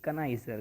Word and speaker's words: connoisseur: जरूर पढ़े इस वर्ड को और बोले कनाइजर। क्या बोलते हैं? इसकी प्रोनाउंसिएशन सही निकालना, कनाइजर बोलते हैं, कनाइजर।